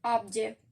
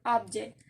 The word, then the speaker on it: object: object as a verb, because in the noun the stress is in the first syllable, object in the noun, and the word as a verb the stress is in the second syllable, object.